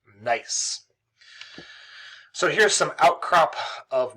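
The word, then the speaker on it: gneiss: so it's some nice that's how it's pronounced not genus not genesis nice so here's some outcrop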